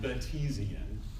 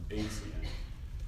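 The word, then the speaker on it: Batesian: for classes to pronounce this is not beian it's named after a guy named Henry Bates so it's basian or muan named after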